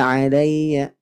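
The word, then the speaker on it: عَلَيَّ: tidak perlu seperti an'amta alayya. Nah, gitu ya. Lanjut. Bertemu dengan ya bertasydid. Maka ditekan membacanya. Alayya, alayya. Ya, tidak perlu terlalu terlalu keras gitu. Alayya. Nah, bisa saja. Alayya karena lin sifatnya lembut.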